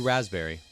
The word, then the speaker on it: raspberry: Number four, psychology. Number three, pneumonia. Number two, raspberry. Number one, cupboard. They all got pee.